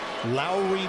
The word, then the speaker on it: Lauri: people that are wondering how do you pronounce the first name because you hear it a bunch of different ways it's like Kyle Lowry Lowry Market I'm so glad